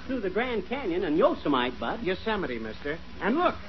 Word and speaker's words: Yosemite: It isn't Yosemite, it's Yosemite. Oh, yeah?